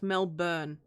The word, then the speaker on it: Melbourne: to my fellow americans it's pronounced melbourne no no no it's pronounced mel burn not bin anyway the hair racing